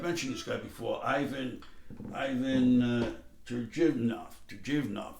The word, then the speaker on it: Turgenev: One is I lifted off a short story, and I've mentioned this guy before, Ivan Turgenev, the Russian Turgenev. I think that's a better pronunciation.